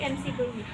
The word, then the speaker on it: McBurney: Melakukan palpasi pada titik MC Burney. McBurney, MC itu tulisannya McBurney, bacanya Mac sama kayak McD ya, McD.